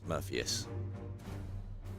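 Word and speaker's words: Murpheus: M u r p h e u s murphus like morphus but with a u in it.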